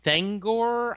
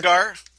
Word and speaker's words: Thanagar: But isn't there a planet of Thangor, I believe? Thanagar? Yeah, Thanagar, where there is this whole police force that look like birdmen, right?